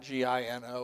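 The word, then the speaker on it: Igino: It was not G I N O. It was I G I N O. In Italian it's pronouncing Gino.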